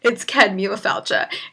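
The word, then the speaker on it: Céad Míle Fáilte: the overhead, and he was like, can anyone pronounce this? And I was like, yeah, I got this. It's Ced Míle Fáilte.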